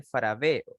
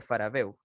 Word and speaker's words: Farabeuf: Entre ellos uno de los primeros que era el triángulo de Faraveo, que se escribe obviamente Farabeuf. Perdón, triángulo de Farabeuf.